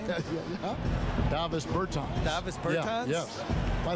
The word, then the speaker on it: Bertans: Davis Bertans.